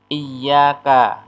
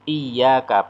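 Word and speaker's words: إياك: Iyyaka na'budu, iyyaka pakai tasdid, ya, itu artinya hanya kepadamu ya Allah na'budu kami menyembah. Tapi kalau iyyaka, ya, itu artinya kepada matahari na'budu kami menyembah.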